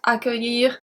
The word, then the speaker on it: accueillir: Do you remember that accueillir has a very specific spelling? It's C-C-U-E-I-L-L. So we put the U after the C, so the C stays as a hard C, not as a soft C.